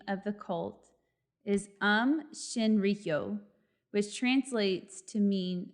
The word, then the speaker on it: Aum: caused by the cult it's spelled a-u-m but the way you pronounce it as um that it will be